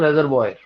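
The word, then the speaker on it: reservoir: ये पहला वर्ड जो है इसका प्रोनाउंसिएशन होता है रेजर्वॉयर, एक्चुअली फ्रेंच वर्ड है, इसका जो राइट प्रोनाउंसिएशन तो वो तो रेजर्वॉयर, रेजर्वॉयर।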